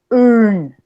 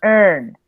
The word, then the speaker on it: earn: Yo no digo, o sea, casi, si ustedes notan, yo no digo earn. No. Yo digo earn, first, serve.